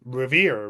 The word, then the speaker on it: Revere: Um I I you know the name of course has a certain first of all it's revere right which is a word of great August meaning